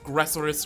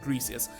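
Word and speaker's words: Griseous: Greasius, Gressorus, whatever. No, it's G-R-I, not G-R-E, so Greasius.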